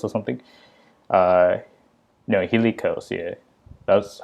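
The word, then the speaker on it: Hilichurls: And I think they're called hitch curls. I think that's how you pronounce it, hitch curls or something. No, hilly curls.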